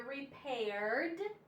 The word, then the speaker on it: repaired: he had his tire repaired last month okay so again this Ed D makes just a d d d sound repaired repaired the E is silent d she dreamed of